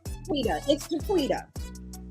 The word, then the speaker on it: Jaquetta: Is it Jaquetta or Jaquita? I don't know how to pronounce that. It's Jaquita. Jaquita?